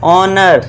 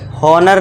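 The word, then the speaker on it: honour: ऑनर। हॉनर नहीं एच को silent कर देना है। ओ से पढ़ना है। एच को भूल जाओ। समझ लो एच है नहीं।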